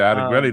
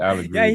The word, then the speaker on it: Allegretti: He said Allegretti the first time. He said it right the first time. He's Allegretti all for 2 years. For real? Damn, I didn't know I was butchering it like that. Definitely Allegretti.